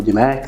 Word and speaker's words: DMAIC: ام اي اي سي ناس بتنطق ديماك ناس بتقوا دي مايك ان وا يعني الموديل